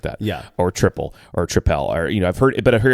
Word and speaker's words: Tripel: It is pronounced triple. Apparently, that is the way you say it. It's not tripel, which is how I said it for years.